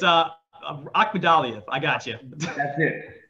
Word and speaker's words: Akhmadaliev: Like next Saturday, we have Lipinets against, I'm not even going to try to pronounce his name. Ryo, I got you. It's Akhmadaliev.